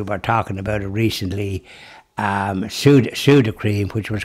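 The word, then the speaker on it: Sudocrem: The Dubliners didn't bother pronouncing it Suding Cream, Sudocream.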